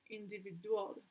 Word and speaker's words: individual: the right one or the correct one is individual in the yeah the writing is individual individual individual individual is in the third syllable yes third syllable right okay stress heart here